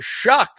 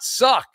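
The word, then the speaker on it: Shough: The story here has been Shuck, not Suck.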